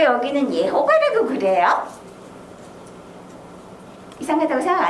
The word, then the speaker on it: 예호바: 히브리어식으로 읽으면 예호바라고 읽는 거예요. 영어식으로 읽으면 여호와가 제호바 이렇게 얘기하는 거예요. 제호바. 네, 제호바. 영어식으로는. 그리고 우리 한글식으로는 여호와 이렇게 읽지요.